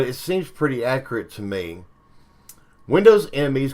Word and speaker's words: Me: seems pretty accurate to me windows enemies called windows millennium edition marketed with the pronunciation of the pronoun me but commonly pronounced as an initialism and me is a